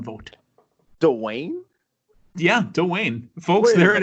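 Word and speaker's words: Duane: So Dwayne received 1 vote. Dwayne? Yeah, Dwayne. Folks, there it is. Hot news. Wait a minute. News. All these years, how the hell did I not? Dwayne?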